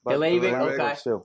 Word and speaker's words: Dlabik: Today we got Dlabik. That's how you say it, right? Dlabik, okay.